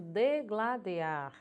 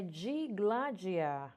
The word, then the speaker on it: digladiar: As pessoas dizendo degladiar. A gramática nos ensina que não é degladiar. A pronúncia é digladiar, ok?